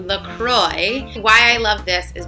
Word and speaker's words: LaCroix: to pronounce it and they basically say Lacroix sounds like enjoy and we hope you